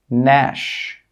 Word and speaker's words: gnash: When we have a G and it's before an N, the G sound is normally not pronounced. Some common examples are design, sign, foreign, Nash, campaign.